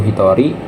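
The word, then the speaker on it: 一人: Salah satu orang bukan ichi hito ya, pakai ning ing bukan juga ya. Tapi di sini ada yang spesial juga untuk angka 1 dan 2 ini dia punya yang spesial. Satu itu Hitori ya, dua itu futari ya.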